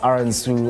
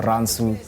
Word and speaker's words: RNSU: basically my stage name you can pronounce it as Aaron Sue or Ransom you know and it's